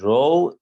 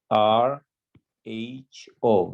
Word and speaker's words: rho: your null hypothesis is row is equal to zero this is row this is not p it kind of looks like this row is spelled r h o rho okay so rho is